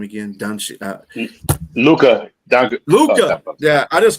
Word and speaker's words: Luka: How you pronounce his name again? Luka.